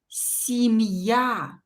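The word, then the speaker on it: семья: it will be reduced ye is reduced to e when it's not stressed so i will pronounce this word as sim ya see not see i will pronounce it as si because ye is not stressed here see me and yeah i will pronounce as ya because i'm not allowed to change its pronunciation because yai is stressed see me yeah okay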